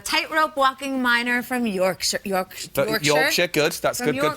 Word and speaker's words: Yorkshire: Yorkshire, good. That's From good pronunciation.